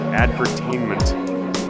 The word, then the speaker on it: advertainment: like commercials so definitely advertainment is the way to go I mean with the accent on the tainment